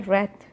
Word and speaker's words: wreath: जे फॉर जैम, जैम, डब्ल्यू फॉर रेड, रेड, डब्ल्यू फॉर, वैसे W silent होता है पर इसका स्पेलिंग डब्ल्यू से शुरू होता है इसलिए हम डब्ल्यू मैच कर रहे हैं, वरना इसका प्रोनाउंसिएशन होता है रैथ।